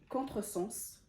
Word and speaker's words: contresens: Si vous voyez dans ce mot-là, quand je l'ai prononcé, le S il s'est pas prononcé Z, il s'est pas prononcé le son Z, il s'est prononcé en son S.